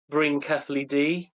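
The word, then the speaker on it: Bryn Celli Ddu: definitely inspired by um now I'm going to pronounce it how I think is the correct way but I've been I've been told different ways to pronounce this name. Um, bring Kelly the um, but I've also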